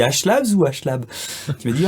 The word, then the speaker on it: HLabs: Ou à un moment donné, je t'avais appelé, je t'ai dit on dit Ashlabs ou Ashlab. Tu m'as dit on dit Ashlabs.